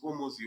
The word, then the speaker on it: Hormozi: I Alex Hormozi. Hormozi is spelled H O R M O Z I Z I.